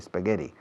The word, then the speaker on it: spaghetti: Fijaos en la pronunciación de la SP de spaghetti. No pongo una E delante, no digo spaghetti.